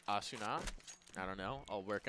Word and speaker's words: Asuna: So apparently it's Asuna.